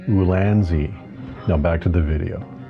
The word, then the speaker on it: Ulanzi: quick review for the ulani lights that I bought ulani ulani I don't know how to pronounce that exactly but wrong on both counts it's actually ulanzi now back to the